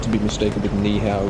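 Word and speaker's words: 你好: Nihow, which is how you say it in Chinese.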